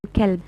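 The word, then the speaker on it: كلب: So when you pronounce a ta as a or a qaf as a kaf, like when you recite qalb and kalb, the heart becomes dog and the dog becomes heart. So changing of the letter comes how?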